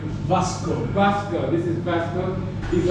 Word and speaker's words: Vasco: How do you pronounce the name? Vasco.